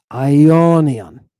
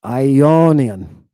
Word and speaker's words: Ionian: Let's say this word together. I o knee on. Do you hear that? I'm pronouncing with syllables. I is your first syllables. O. That's your second knee. Third on. Fourth. Ionian.